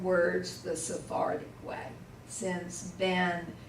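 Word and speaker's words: בן: Now this is the one we pronounce the Sephardic way. Normally in the States, the Tzere says A, but Ben is so common, like Ben and Shem and Ham. We pronounce these the Sephardic way. In Israel, they have a short E sound.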